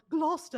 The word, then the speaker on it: Gloucester: What the fuck was that for a pronunciation? I mean, I'm not sure. It's Gloucester. We're literally just talking about. Oh, Gloucester.